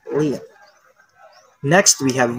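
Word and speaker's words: 零: So 0 in Chinese is liang. 0 is liang.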